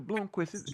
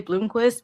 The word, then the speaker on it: Blomqvist: So you don't Yeah. pronounce the V. Okay. Right. Yeah. Yeah. Man, Sandra, you should have seen me. I'm like, who is this dude with the Blumquist? Yeah. It's a damn V.